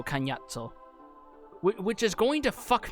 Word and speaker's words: Cagnazzo: And they had to be like, alright, are we gonna do Cognazzo or Cagnazzo? And they went with the proper Italian pronunciation, so Cagnazzo.